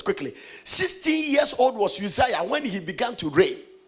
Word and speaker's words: Uzziah: Is that how you pronounce? How do you say? Uzziah. Okay, so I got it. Uzziah, who was 16 years old, and made him king in the room of his father Amaziah.